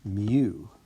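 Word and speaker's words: μ: actually a greek letter it's the 12th letter in the greek alphabet and it's pronounced mu like that and it's the simulate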